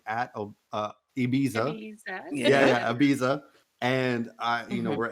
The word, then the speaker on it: Ibiza: to have the season finale episode 11 at obese it's funny because tequila yeah tequila makes fun of of how i say ibiza did i say obese how do you say it is it ibiza that's how you say it okay yeah i